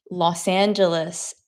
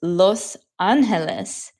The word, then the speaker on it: Los Angeles: Isn't it weird how Americans say Los Angeles instead of how it's actually supposed to sound, which is Los Angeles?